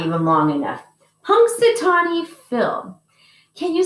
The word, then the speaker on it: Punxsutawney: his real name is punxsutawney phil can you say punk satani punk satani and this is when